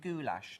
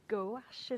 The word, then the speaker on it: gouache: you work mostly in goulash, don't you? Which I thought was hilarious. I think it's pronounced gouache, isn't it?